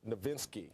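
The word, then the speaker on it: Nowitzki: with Nash and ner Dirk ninski got that German pronunciation right they're excited in Dallas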